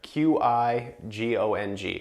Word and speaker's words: Qigong: We teach those as well, and they're Qigong. Okay, so it's spelled differently than CHI. It's Qigong.